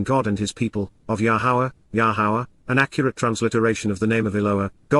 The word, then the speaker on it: Yahowah: Yahowah, Yahowah, the proper pronunciation of the name of Eloah, God has directed in